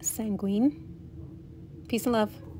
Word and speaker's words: sanguine: watching peace and love the powder is actually pronounced sanguine peace and love